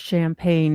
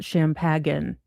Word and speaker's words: champagne: It's pronounced champagne, not champaging.